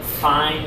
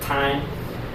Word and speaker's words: Thein: Obviously, some of you guys might know Thein, spelled with a TH at the front. Americans will probably call it Thein, even though it's Thein.